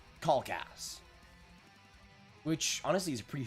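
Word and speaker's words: Kalkas: of of that uh pronounce my last name right it's spelled k a l k a s um I'm going to say kcast which honestly is a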